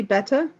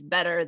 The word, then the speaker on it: better: Matt's just so British so do you always say beta Michelle I I'm not sure I think I do I think I think that this butter is better than that butter see you said it like me now okay so this butter is better this bottle of water so all those soft teas that sound like these those are very American bottle of water better